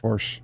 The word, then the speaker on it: Porsche: Porsche. It's Porsche. Yeah, and we say Porsche. Yeah. In Romania, it's Porsche. And we say Porsche. You guys say Porsche. Porsche. Sounds like porch.